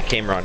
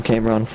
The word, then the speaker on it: Cameron: a while ago Cameron the way your name is spelled I want to say camon every time I don't know why my brain processes that way just call him Cameron just do it yeah